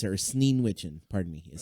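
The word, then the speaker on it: Sneewittchen: Snow Witchen. Oh, okay. I believe it's her. Sneen Witchen, pardon me, is how you Okay.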